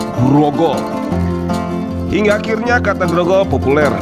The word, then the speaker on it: Grogol: Dengan alat garogol, binatang buas biasanya ditangkap sehingga lama-lama alat ini menjadi sebuah sebutan bagi tempat tersebut, tetapi tidak diucapkan garogol melainkan grogol.